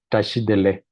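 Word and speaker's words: བཀྲ་ཤིས་བདེ་ལེགས: And it sounds like tashidele.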